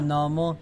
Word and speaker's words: নমঃ: আর পাশেরটা হচ্ছে বিসর্গ আছে, এটার কোনো ওকার নাই, তাহলে নামঃ নামঃ নমো নমঃ প্রণত প্রণত ক্লেশনাশায় ক্লেশনাশায় গোবিন্দায় গোবিন্দায় নমো নমঃ।